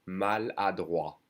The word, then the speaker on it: maladroit: Maladroit. We don't say the T.